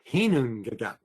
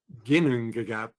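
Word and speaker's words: Ginnungagap: No, it's Hinungagap, not Ginungagap or Gnungagap.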